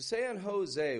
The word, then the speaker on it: San Jose: I am giving the S this American sort of, Americanizing the name just a little bit with the S. Jose. So San Jose, 1 million people down in California.